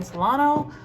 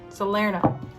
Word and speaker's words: Salerno: Okay, so the first we're gonna go with the Magdalene Oracle by Tony Carmine Solano. Did I say that right? Salerno. Sorry, totally butchered that.